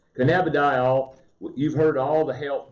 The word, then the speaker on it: cannabidiol: Cannabidiol, you've heard all the health benefits.